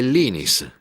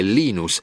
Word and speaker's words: Linus: Quando parlo svedese è Linus, quando parlo finlandese è Linus e quando parlo inglese è Linus.